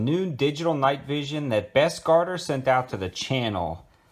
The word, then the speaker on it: Bestguarder: video on some new digital night vision that best Carter sent out to the channel that is how you pronounce their name and they actually have a